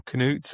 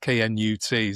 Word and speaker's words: Knut: And this guy, however you pronounce it, is it Knut or Knut? It's spelled K-N-U-T. So he makes, Knut.